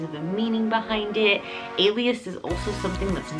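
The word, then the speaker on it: Aelius: So like it's not really common, it's not really out there, and this name is Alias. Now, Alias is spelled A-E-L-I-U-S, and it is the Greek word for sun or sunlight.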